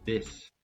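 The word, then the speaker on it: です: Ou se você tiver sem caderno no notas do celular, na mente, que o su no japonês a gente nunca pronuncia, nunca. Então você não vai falar des, você vai falar des des, né?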